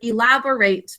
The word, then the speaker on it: elaborate: Elaborate is the way we say this. Elaborate. Underline and thinking cap because it's unstressed. We say elaborate.